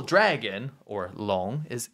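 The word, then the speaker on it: 龙: it in in Chinese so long is the pronunciation of dragon in China Chinese long is a dragon and as you may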